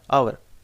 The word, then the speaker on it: hour: एच से शुरू हुआ है, HOUR, आवर, तो इसमें जो है एच साइलेंट है, जो जहाँ एच म्यूट